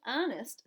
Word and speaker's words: honest: That's a good guess, but honest starts with a silent H."